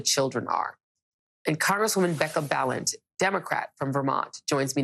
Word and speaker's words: Balint: are and congresswoman Becca balant Democrat from Vermont joins me now I want to first ask if I've pronounced your name correctly uh congresswoman I always say balent rides with Talent so balent and that's I love